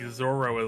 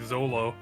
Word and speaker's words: Zoro: all things four kids accurately pronounced like Zoro as like Zolo like they based it like they did the like they called him Zolo oh yeah some sometimes